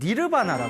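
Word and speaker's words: निर्वाण: 사용할 때 원래 열반이 저 인도 산스크리트 어로는 니르바나 합니다 니르바나 니르바나 하고 저 난방에서 사용하는 팔리어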